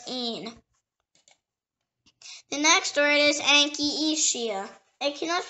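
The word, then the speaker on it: Anchietea: The next word is Anchisia. It can also pronounce Anchisia, Anchisia, or Anchietia, or Anchietia.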